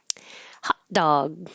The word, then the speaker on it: hot dog: Hot dog, hot dog. I use the same ah for both hot and dog, and you won't hear the T and you won't hear the G.